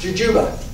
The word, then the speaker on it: jujube: Who named it Jujube? I always wonder, because people don't know how to pronounce it. They go like... Okay. It's technically pronounced Jujuba.